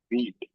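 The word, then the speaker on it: Vite: चीज बता एक ना बीट वी आई टी ई इसका स्पेलिंग जरूर वी आई टी ई है लेकिन इसको हम क्या बोलते हैं बीट बोलते है इसके साइट के अंदर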